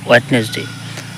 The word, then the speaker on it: Wednesday: ওয়েডনেসডে তার মানে এই জায়গায় ডির উচ্চারণ হবে না, ডিটা এই জায়গায় সাইলেন্ট থাকবে, ওয়েডনেসডে।